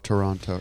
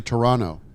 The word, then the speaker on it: Toronto: Love Toronto. It's actually Toronto. Toronto? Soft T.